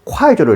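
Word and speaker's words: 筷子: 중국의 결혼 혼수 중에 신부 쪽에서 신랑 쪽으로 꼭 챙겨보내는 것이 젓가락인데, 젓가락은 중국어로 콰이저로 읽는데 동일한 발음인 콰이저는 자식을 빨리 얻다는 뜻으로 아이를 기원하는 상징적인 의미로 젓가락을 챙겨보냈던 것입니다.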